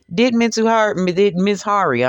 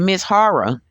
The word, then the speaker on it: Mizuhara: Mizuhari, I'm sorry, I keep on pronouncing the man's name wrong. Did Mizuhara, excuse me, did Mizuhara take things in excess?